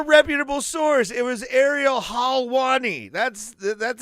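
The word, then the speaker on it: Helwani: was from a reputable Source it was Ariel halwani that's that's how you say his name he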